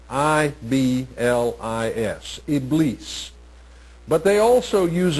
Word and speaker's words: Iblis: The name that is often used in the Quran and in Islamic thought is Iblis, I-B-L-I-S, Iblis. But they also use a term that, when pronounced in English, sounds very much like the word Satan.